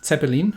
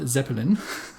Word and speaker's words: Zeppelin: with the same name so in german it's zeppelin not zeppelin but you'll be perfectly understood